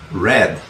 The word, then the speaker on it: read: Pasado y participio, read. Pero se escribe igual, sí, pero en inglés, cuando es la forma del pasado, del participio, usted va a tener que pronunciarla como si fuese rojo, red, ¿ok?